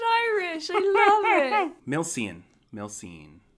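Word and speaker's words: milseáin: god you sound irish i love it milsian milsin milzin milshan milshawn milshan milshawn our sweeties or candy sweeties yeah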